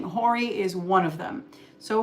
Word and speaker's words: horary: It's really Hori, but it's spelled horary. You're gonna hear a lot of people say horary.